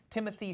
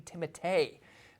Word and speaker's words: Timothée: Part 1 left off, Timothée Chalamet, or is his name pronounced Timothée Chalamet? I heard an interview this week. Yeah. Yes, an interview this week said his name is actually Timothée.